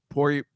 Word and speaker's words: Poirier: Mike Vecchione, do you know how to pronounce Poirier? Poirier.